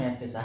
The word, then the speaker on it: abscissa: हैं x axis पर, उसको बच्चों बोलते हैं एब्सिसा, ABSICCA, एब्सिसा।